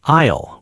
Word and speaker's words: aisle: The P is silent, like aisle with the silent S.